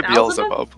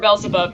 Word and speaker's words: Beelzebub: is Bella see bubble-bath wait how do I pronounce that yes I say Beelzebub Beelzebub or belzebub yeah it feels above hi I heard of